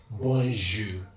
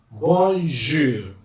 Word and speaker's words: bonjour: For example, bonjour, bon, b, o, n, j, that is G. Then ou. Now in French is pronounced ou, and your R is pronounced R. So bonjour, bonjour.